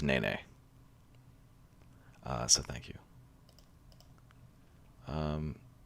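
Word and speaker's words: nēnē: telling me that the the official bird of hawaii is pronounced nene uh so thank you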